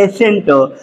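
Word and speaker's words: ascent: इसको हम क्या पढ़ेंगे एसेंट आपको हमने बताया था कि अगर एस के बाद सी होता है ठीक है एस के बाद सी होता तो वहा प सी हमारा क्या होगा साइलेंट होगा ठीक है इसको क्या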